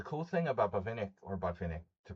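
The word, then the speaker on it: Botvinnik: Buffenik. I was just doing a Buffnik game in analyzing one of Buffnik's games and the cool thing about Bvenic or Bfinick to pronounce it correctly is that he was so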